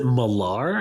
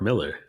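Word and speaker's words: Millar: fun and different whoa is that how you pronounce it malar i thought it was mark miller i thought it was mark miller too for the longest time i did but it's spelt m-i-l-a-r i know but i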